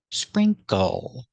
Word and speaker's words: sprinkle: Together, spring, spring, sprink, sprinkle. The second syllable is a short sound, plus the dark L, o.